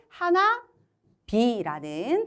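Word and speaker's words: 花火: 그런데 하나 히 하기 발음이 되게 어려워서 조금 발음하기 편하게 하나 비라는 타금으로 갈 겁니다.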